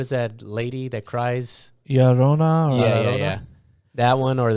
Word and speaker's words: La Llorona: Llorona. Or Yeah. That one, or the chupacabra. It's outside. pronounced La Llorona.